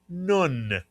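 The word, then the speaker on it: נון: The name of the letter is nun mitsu yan.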